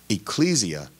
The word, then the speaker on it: ecclesia: be translated was then ecclesia but the second syllable being stressed ecclesia in ekklesia had similar